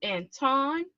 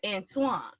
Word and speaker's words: Antoine: So the question is, do we call you Anton or Antoine? It's Antoine, believe it or not. Just like Antoine Jameson, he spells it the same way.